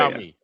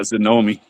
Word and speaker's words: Xiaomi: I can't say Xiaomi. I call it Zomi, but Xiaomi.